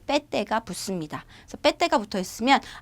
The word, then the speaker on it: PT: PT 아니고요. 빼떼라고 읽어요. 인도네시아 발음 다릅니다.